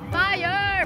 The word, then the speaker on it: FYR: We got a ribeye cube from this shop called Fire, but it's spelled F-Y-R, okay?